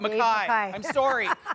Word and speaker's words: McKay: Dave McKay, President and CEO of RBC, and Al Monaco. Mackay. I'm sorry. I need a pronouncer in my...